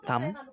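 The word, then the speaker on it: thumb: এম ও বি থাকলে বি উচ্চারণ হয় না। তারপর হচ্ছে কম্ব যেমন চিরুনি। তারপর হচ্ছে থাম হাতের বুড়ো আঙ্গুল।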